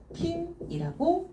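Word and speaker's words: 均: 균 등할 균 그래서 요거를 이제 음독으로 읽어 줄 때는 킹이라고 읽어주면 돼요 4번 번 평범 이거든요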